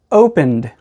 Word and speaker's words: opened: And when ed comes after one of these sounds, we pronounce it like a D. There's no E sound, just the D sound. So again, this word is opened.